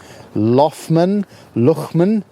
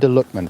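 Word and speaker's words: Loughman: Now, I did Google how to pronounce that name. Lughman, L-O-U-G-H, man. Enda Lughman.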